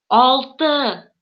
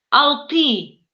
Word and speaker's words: алты: Алты. Алты. Видите, если обычный русский человек прочитал бы это выглядело бы так. Алты. Понимаете, да? А татарин произносит алты.